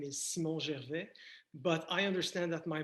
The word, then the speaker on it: Gervais: I'm going to say Gervais because I speak French. Gervais is the way to go.